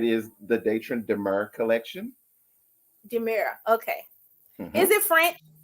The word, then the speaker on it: D'Mur: Demira.